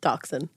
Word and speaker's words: dachshund: Dachshund.